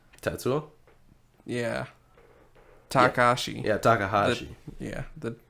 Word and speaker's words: Tetsuo: One of my notes I took, I said, Testuo? I don't even know how to say his name. Tetsuo?